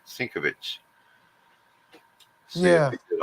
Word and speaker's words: Sienkiewicz: I always said Sienkiewicz, but I know it's Sienkiewicz. not right. Sinkovitz.